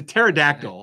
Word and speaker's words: pterodactyl: confession exactly it's a pterodactyl the pea apparently is silent in pterodactyl I never realized that